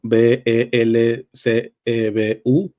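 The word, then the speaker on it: Belcebú: e b u l belul o belcebu nada más con acento en la u primero hay que decir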